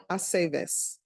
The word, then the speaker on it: Aceves: It's always ve. Bay, Aceves. Okay.